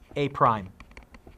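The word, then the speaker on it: A′: a and it's usually denoted by a with an apostrophe pronounced a prime yes technically he's a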